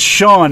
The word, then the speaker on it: Sean: also my single that's on there and it's Sean s EAN just for people that can't spell